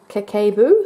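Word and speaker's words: Kakeibo: it so here it says that it's actually pronounced kekkai boo so that was a little bit off in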